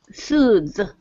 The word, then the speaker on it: soothe: Notice, that TH, soothe. The good pronouncers in class, hopefully me included, tend to stretch the sound. Soothe. The reason we're stretching the sound, it's a continuant, and we're also stretching it so to help it sound clearer, because it's a difficult sound to hear.